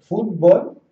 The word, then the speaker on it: fútbol: Fútbol viene de foot, que es pie, y bol, que es pelota. La pronunciación aquí es fútbol.